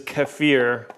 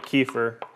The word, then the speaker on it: kefir: And the correct pronunciation is kefir, but I always end up calling it kefir.